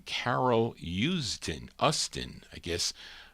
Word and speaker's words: Usdin: Her real name, Carol Usdin, I guess, pronounced U-S-D-I-N.